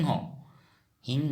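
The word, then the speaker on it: সিংহ: उच्चारण होगा का हि हो हिं हो लिखते टाइम में सिं हो लिखेंगे लेकिन उच्चारण होगा हिं हो क्योंकि असमिया में हमेशा स का उच्चारण ह होता है इसलिए हि हो कहते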